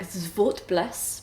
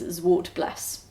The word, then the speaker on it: Zwartbles: Technically it's something like Zwartbles, but I always feel like I'm kind of taking the mick if I say that. So apparently the accepted English pronunciation is Zwartbles. So Zwartbles it is.